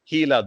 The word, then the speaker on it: Gila: It's pronounced Gila, though it's spelt with a G, it's pronounced as H. Gila monster, this is one example I'm showing you here.